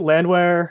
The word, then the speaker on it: Landwehr: was it come in cole man yup nate landwehr i i'm obviously i feel like i'm mispronouncing that name well you got it land